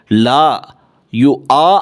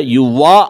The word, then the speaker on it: لا يؤاخذكم: தான் நம்ம இதை பயன்படுத்தணும் லா யு ஆ அப்படின்னு சொல்லணுமே தவிர யு வா அப்படின்னு சொல்லக்கூடாது சரியா லா யு ஆஹி ருக்கு